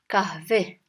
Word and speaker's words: kahve: Coffee in Turkish is kahve. It's very close to the English word coffee, kahve. Coffee, kahve. Coffee, kahve. So, istiyorum from the story of Esther, and the coffee is kahve.